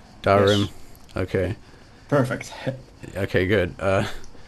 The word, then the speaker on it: Dahrim: Am I pronouncing that right? Dahrim.